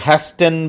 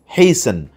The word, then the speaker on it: hasten: 5 নম্বরে আছে হেইসেন, বানানটা হলো HASTEN, কিন্তু হ্যাস্টেন বলা যাবে না, বলতে হবে হেইসেন, একটু তাড়াতাড়ি করা।